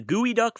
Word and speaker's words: geoduck: It's derived from a Lushootseed word for the clam, which is pronounced gooey duck anyways.